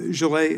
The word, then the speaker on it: Jalloh: um Jalloh, am I pronouncing your name right?